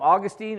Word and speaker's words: Augustine: there was a guy named Augustine or Augustine depending how you want to pronounce it uh and he said